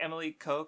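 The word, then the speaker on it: Emilico: the premise is that uh emiliko or like emily ko kind is kind of how it's uh pronounced um she's basically a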